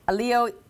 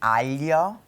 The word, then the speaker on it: aglio: Is it aglio olio? It's really hard because we don't have the sound in English, but it's aglio.